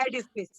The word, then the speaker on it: edifice: Okay the place where pronunciation है एडिफिस, क्या है इसकी प्रोनाउंसिएशन? एडिफिस।